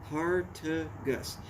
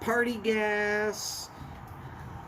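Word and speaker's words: Partagás: So not party gas. Not pray to Gus. Partagas.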